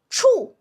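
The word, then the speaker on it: 處: ch ū And with a fourth tone, remember, you drop. Let's do it. ch ū chù ch ū chù When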